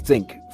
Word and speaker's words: ThinQ: it's new high-end v40 thinq or actually pronounced thin q has two selfie cams